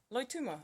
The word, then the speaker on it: Loituma: Loituma.